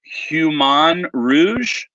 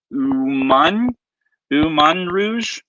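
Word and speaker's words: Humagne Rouge: Jennifer letting me know the H is silent, so it's Human Rouge.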